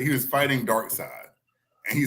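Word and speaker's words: Darkseid: the worst the apocalypse it's spelled d-a-r-k-s-e-i-d Dark Side they didn't even put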